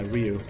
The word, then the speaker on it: Ryu: So we pronounce, the correct way to pronounce it is Ryu. Like the Street Fighter, yeah, Ryu, not Ryu.